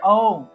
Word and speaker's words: ওম: নমহ তা প্রথমে আছে ওম এই ওম এর উচ্চারণটা মূলত আ দিয়ে উচ্চারণ আরম্ভ হবে অর্থাৎ মুখটা বড় থেকে ছোট হবে অর্থাৎ ওম ওম যদিও